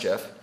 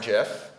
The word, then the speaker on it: GIF: things like having glitter unicorn gifs it is pronounced Jeff and they would script the unicorn jiff with a toy programming language that would let